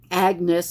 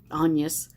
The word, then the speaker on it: Agnes: react to things um agnes or anus uh the french pronunciation um anyas that uh you know